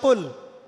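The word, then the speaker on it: قُل: কিন্তু আপনি যদি কফ এর মাখরাজটা ভুল করেন এবং কফ না বলে আপনি ছোট কাফ পড়েন এবং কুল না পড়ে আপনি কুল পড়েন বলেন যে কুলহু আল্লাহু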